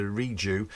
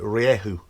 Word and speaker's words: Rieju: marathon 125 project build i've been calling it the reague or the riju uh but i saw a video the other day some spanish guys speaking about it and they pronounced it riyehu so riyehu though i'll just pronounce it like that anyway riegerier it's a bike